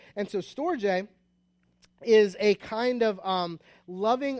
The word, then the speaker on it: storge: So this one I'm going to say is storge, which is pretty close to what I found most of. And so storge is a kind of loving affection based on familiarity, right?